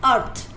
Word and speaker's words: earth: इसमें जो फर्स्ट वाला ई है दैट इज साइलेंट, और इसकी साउंड ए की साउंड अ आ रही है. आपको इन वर्ड्स को ऐसे ही लर्न करना पड़ेगा. The word is अर्थ.